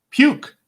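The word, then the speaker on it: Puyk: um maybe you can look it up it's it's spelled p-u-y-k p-u-r-k okay p-y-k brewery puke puke brewery yeah yeah and puke in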